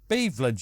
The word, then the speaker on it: Beveland: Beveland, you idiot.